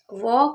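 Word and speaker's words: walk: वॉक अगर लिखा हुआ दिखे इसमें भी एल साइलेंट रहता है, तो इसको भी आपको लिख लेना है।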